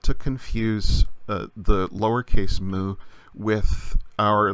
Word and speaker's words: mu: kite the letter mu it's not usually pronounced mu its mu the sound that a cow makes the shape in the